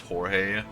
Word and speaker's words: Jorge: Just like in English, it's George. In Spanish and Mexican, it's pronounced Jorge, which always makes me laugh.